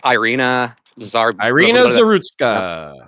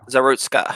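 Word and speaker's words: Iryna Zarutska: I don't know how to pronounce her name though, because I don't speak Ukrainian. It's like Irina Zarutska. Zarutska.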